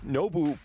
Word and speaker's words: Nobu: And it's so hard because it's Nobu, but like the oo is like an O and a U together. Yeah, I think, and the